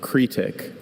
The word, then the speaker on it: cretic: Are there any alternate pronunciations? Just the one. Cretic.